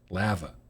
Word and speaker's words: lava: My name always throws Graham off, but I pronounce the A in lava like the A in tabby. So, lava. Tabby lava lamp.